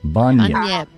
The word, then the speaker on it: Bunyip: Bun, as in like bun, and yip. So I put them together. Bunyip. It's kind of hard to describe it to non-Australians. Like if you say, what's a bunyip to an Australian, they get it.